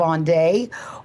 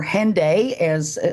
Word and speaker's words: Hendaye: be talking about the great Cross of on day or hend as I guess the English pronun pronunciation which many people use either way you say it it's a very fascinating